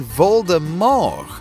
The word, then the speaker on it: Voldemort: his name should be voldemort the t at the end is completely silent still don't believe us